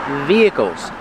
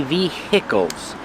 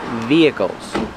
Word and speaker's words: vehicles: Vehicles. The H is silent. We do not say vehicles. It's via v. Vehicles.